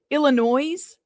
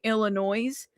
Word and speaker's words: Illinois: doing and he has the same habit of saying Illinois like adding an extra s or whatever.